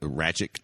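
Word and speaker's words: Rakić: Yeah, the main event was a bit lackluster, which is kind of disappointing for how you pronounce that? Ratchet? Yeah, Alexander Rakic.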